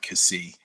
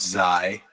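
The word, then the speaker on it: Ksi: it's it's k s i so i i pronounce it cassie i used to pronounce it zai um and then i don't know when i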